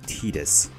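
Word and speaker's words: Tidus: island Titus or tetus so Waka called him tetus since that's the canonical pronunciation I really should make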